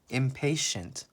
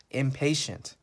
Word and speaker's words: impatient: in pay in hey impatient I know there's a tea here but it makes the chef sound impatient impatient means not nice